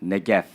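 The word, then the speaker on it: נגף: Let's look at the root word of disaster, which is pronounced negev.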